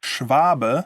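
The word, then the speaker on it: Schwabe: Shout out to uh Schwvaba, as you would pronounce it in German.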